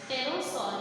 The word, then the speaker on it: pterosaur: Pterosaur. Here P will be silent. We will not pronounce P, but we will write here P.